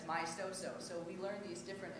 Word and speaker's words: maestoso: And people are like, me estaso. Like, they don't know how to say it because it's in a different language. But you know, we learn that. We learn that it's maestoso.